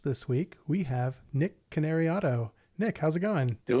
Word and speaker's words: Cannariato: I just think about Canary and Auto like you taught me and it works.